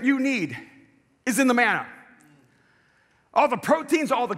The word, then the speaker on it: manna: words in the Hebrew the word manna rhymes with the word man who which means what is it and so they